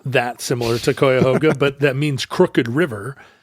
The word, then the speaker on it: Cuyahoga: Did you know, by the way, that you can pretty much use any vowel for the first syllable of Cuyahoga? Webster's recommends Cuyahoga first, followed by Cuyahoga, schwa, yeah. Cuyahoga, and Cuyahoga. Cuyahoga. So your options are I, and O.